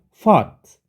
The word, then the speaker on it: fought: berpikir, dan terakhir fight, fought, untuk berkelahi atau memperjuangkan. Bacanya kalau by, bought, oke, UG-nya nggak usah dibaca. Sama, ini brought, ini UGH-nya nggak usah dibaca. Fought, ini juga UGH-nya nggak usah dibaca.